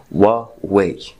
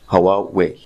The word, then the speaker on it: Huawei: اللينك في ديسكربشن بتاعه بيقولوا ان الشركه اسمها وا واي مش هواواي او هواوي او اي حاجه تانيه لكن لما كان رئيس